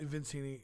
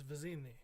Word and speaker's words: Vizzini: seven inch figures um is that vizzini is that how you pronounce that vincini the genie no it's a zine right the way it's spelled it's vizzini yeah and then um as